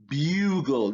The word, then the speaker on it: bugle: let's take a look this u sound is created by the letter u bugle that that like y